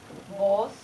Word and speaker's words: vos: So we said vos, which is B-V-O-S, and they said both. And so it's different, the pronunciation.